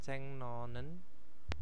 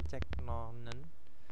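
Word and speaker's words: 적는다: ada Ceng Nonon ya Ceng Nonen Nah itu bacanya bukan cek Nonen Tapi bacanya adalah Ceng ya Ceng Nonen Ceng Nonen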